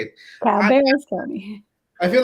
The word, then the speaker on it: Cabarrus: Cabarrus County.